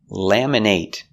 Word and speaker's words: laminate: laminate your driver's license laminate is a verb with a long a sound laminate but what if it's not a verb laminate we make these short it it sound laminate laminate is not a verb it's an adjective it describes what kind